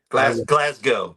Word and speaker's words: Glasgow: Glasggo.